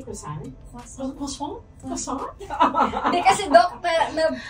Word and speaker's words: croissant: They don't croissant, pronounce the R.